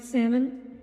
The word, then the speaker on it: salmon: about it exactly Tommy why is there an L why does English have letters that aren't meant to be pronounced it's because English is